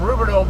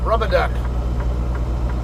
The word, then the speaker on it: Rubidoux: um the light for Rubidoux Boulevard rubber duck rubidou is how it's pronounced but uh yeah that